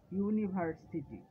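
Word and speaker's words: university: যেমন dash ইউনিভার্সিটি, এখানে কি বসবে? এটা একটা ভাওয়েল ইউ, কিন্তু যেহেতু ইউ একটি সেমি ভাওয়েল এর উচ্চারণটি এখানে ইউ, তাই এর পূর্বে এ বসবে, এন বসবে না।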